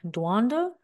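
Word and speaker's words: Doudna: One of them was Jennifer Duanda, might have said her last name wrong, from the University of California, Berkeley.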